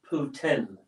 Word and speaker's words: poutine: So maybe I will make some poutine.